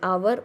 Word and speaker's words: hour: An hour o sound where h is silent.